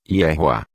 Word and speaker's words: Yehoá: Para chegarmos à pronúncia completa do nome do Criador, basta pegarmos a pronúncia do tetragrama no nome de Josué e acrescentarmos a pronúncia do último rei com som de A. Teremos então a pronúncia completa como Yehoá.